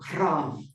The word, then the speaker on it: ram: I mean, roll your r like a motorcycle, ram.